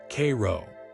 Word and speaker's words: Cairo: You'll find Cairo, pronounced Cairo, not like the city in Egypt.